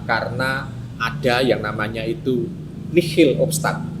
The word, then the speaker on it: nihil obstat: Karena ada yang namanya itu nihil obstat. Bacanya tulisannya nihil obstat, tapi mocone nihil obstat.